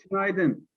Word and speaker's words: Günaydın: Günaydın. Günaydın.